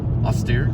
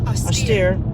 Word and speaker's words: austere: when we saw our how do you say it austere austere teacher on the first day severe joe's austere mother barely gave him any social freedoms so austere means like severe this rhymes with severe strict or strict austere